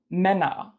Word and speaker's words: Männer: Say bet or fed. It's also the eh in hello. Some examples of this sound in German, spelled with the A umlaut, are Männer, Hände, Bälle, Äpfel.